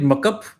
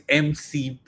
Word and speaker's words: MCP: Would you call it muck up? No, right? It's MCP. You pronounce the capital words. It's not Kali or muck up. It's CLI and MCP.